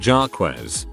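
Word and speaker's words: Jacques: He had a half brother about 12 years younger named Jakes, pronounced Jarquez.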